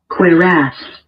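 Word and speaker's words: cuirass: Quir. That's how it's pronounced.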